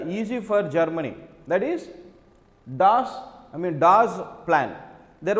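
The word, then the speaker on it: Dawes: you see Das plan so pronunciation is not doubts it is Das plants what is the Das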